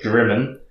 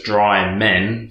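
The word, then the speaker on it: Drymen: the little village of Drimmen, which I was pronouncing like the English ignorant person I am. I was pronouncing as Dry Men for way too long before someone corrected me, so I'm sure everyone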